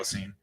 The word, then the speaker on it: Holocene: that I even like thought of Holocene in the first Don't do place it. was because of the Bon Iver song God, dude. Holocene.